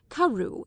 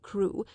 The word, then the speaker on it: Crewe: difference in the name Madame Pascal pronounced it as if it were Karu instead of crew but that might merely